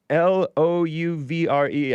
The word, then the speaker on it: Louvre: L O U V R E. I think it's pronounced the Louvre.